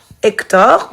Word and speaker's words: Hector: Hector, oui, on l'entend pas, c'est un H muet.